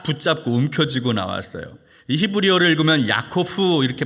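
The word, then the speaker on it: יעקב: 야곱이 형에서의 발꿈치를 딱 붙잡고 움켜지고 나왔어요.이 히브리어를 읽으면 야코후 이렇게 발음을 하는데이 단어는 어떤 뜻이 있냐면 움켜지는 자 빼앗는 자 속이는 자 어때요?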